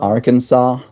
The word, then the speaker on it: Arkansas: I want Mel to pronounce Noodle. Arkansas, Arkansas, Arkansas.